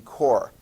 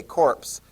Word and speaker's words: Corps: You will sound very intelligent if you say Marine Corps instead of if you try to pronounce it phonetically. Because if you say corpse, somebody's going to look at you and like, yeah, you don't know what they're talking about.